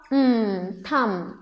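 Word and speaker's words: thumb: This word also we can take थ अ थम okay and these are also few few diagrams जिसमें कि एक लेटर साइलेंट रहता है, एक लेटर साउंड करता है।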